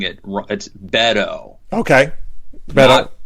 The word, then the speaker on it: Beto: I've been told I've been scolded that we're pronouncing it Rod's Beto okay but not bado and I've been calling him bado but I've